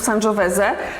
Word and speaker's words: Sangiovese: Piter dobra kochani oczywiście wymawiamy w bardziej włoski sposób sanżoweze ale Tomek tutaj się